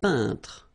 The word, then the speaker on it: peintre: So remember when you get this E-I-N together here, then you pronounce this un sound. So nasal in your nose, un peintre. All right? And remember, final here is not pronounced. It only gives you the possibility to pronounce these two letters. So tr, tr, okay? Un peintre.